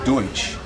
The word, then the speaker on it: Deutsch: It's a mispronunciation of Deutsch.